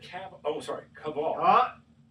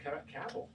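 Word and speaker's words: Kaval: You have to call him Cavill because if you call him Cavill, I think for some reason the family doesn't like the French pronunciation. Maybe they're anti-francophiles or something. And don't call me Cavill. It's Cavill. Cavill.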